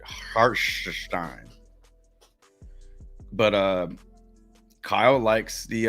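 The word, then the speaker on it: Hartenstein: Randall and Har hartstein gotta say it like Doris Burke says it hartstein but uh Kyle likes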